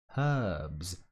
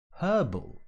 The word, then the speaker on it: herbs: to be more precise in received pronunciation the proponent of which your humble servant is we pronounce the h in this word so it would sound herbs herbs herbal for instance i love